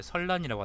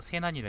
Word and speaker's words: 세난: 말씀 설자에다가 어려울 난자인데, 그럼 이걸 왜 설난이라고 안 읽고 세난이라 읽느냐? 세자라는 게 세라는 게요. 여기서 말씀 설자라고 읽을 수 있는데, 근데 여기서는 유세한다 그런 말일 겁니다. 유세한다. 그러니까 세라는 건 남을 설득하는 거거든요. 설이라는 거는 주장하는 거고, 세라는 건 남을 설득한다는 거거든. 의미가 조금 다릅니다.